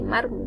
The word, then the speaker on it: mármol: Por último, tenemos la palabra mármol, donde lleva tilde mármol, muy bien, en la A.